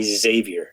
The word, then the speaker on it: Javier: so obviously my my my name is Javier in South Africa funly enough I go by Xavier yes that's that is my my brand bavier as you know but I mean you obviously a man of the world you're a world traveled person and you know that a Spanish name is pronounced Javier so thank you for